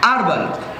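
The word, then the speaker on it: herbal: এরকম আরও কিছু শব্দ রয়েছে, যেরকম এয়ার, আরবাল, যেদিকে আমরা সচরাচর হারবার বলে থাকি, যেটির সঠিক প্রোনাউন্সিং হচ্ছে আরবাল, ইউরোপিয়ান, এই যে শব্দগুলো রয়েছে দেখো, এখানে এইচ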